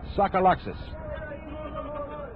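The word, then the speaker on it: Tsagalakis: Harry Welsh suck Alexes he spells his name T sa Ga Lak is and pronounces a sucka Luxus that's a tongue twister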